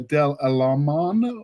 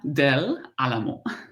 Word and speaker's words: Del Alamo: So it's Del Alamo. Alamo. But if Del Alamo, if you say it fast enough, it's just something like that.